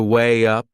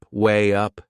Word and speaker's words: weigh up: There is another linking sound in that phrase. To weigh up, weigh up. Can you hear it? We insert a little Y sound.